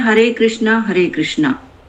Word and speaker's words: कृष्ण: हरे कृष्णा हरे कृष्णा तो कृष्णा नहीं बोलना चाहिए तो कृष्ण वो मैं ठीक से प्रोनाउंसिएशन जानना चाह रही थी। हां माता जी वो मतलब कृष्ण और राम में आ की मात्रा नहीं होती है। लास्ट में नहीं होती।